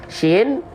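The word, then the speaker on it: ش: Ya, nih, shin jangan sampai bibir centil karena shin punya tata cara baca, yaitu makhraj atau tempat keluar huruf. Keluarnya dari mana? Kita geser. Keluar dari wastul lisan. Wastul lisan itu artinya tengah lidah.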